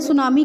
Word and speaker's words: tsunami: इसको मैंने सुनामी क्यों बोला? क्योंकि टी साइलेंट है।